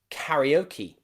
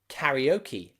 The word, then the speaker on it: karaoke: borrowed from another language so we put the e at the end as a e e sound okay practice again karaoke karaoke and karate karate okay